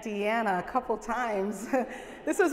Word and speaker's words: Deanna: even pronounce my name he used to call me Aunt Dana so I'm actually proud that he said Aunt Deanna a couple times this